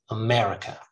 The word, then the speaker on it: America: adventure another schwa again america starts with a schwa ends with a schwa america america just put it